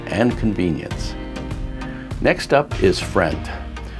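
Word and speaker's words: Frient: Next up is Friend. Friend is pronounced like friend, with a T in place of the D.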